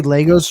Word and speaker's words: Lego: See, Lego is now or is a plural and singular. It's not Yes. Legos, it's Lego. So I want to thank See, everyone.